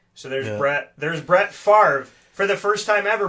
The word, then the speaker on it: Favre: So there's Brett Favre. For the first time ever, Brett, that's the way that it's spelled, the way that it sounds.